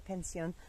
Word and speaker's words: pension: They call the kennels like pension, like pension, spelled like pension, but you say pension canine.